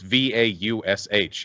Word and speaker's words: Vaush: It's Vaush in English. That's always Vaush. That's how it's pronounced. Like 98% of the time.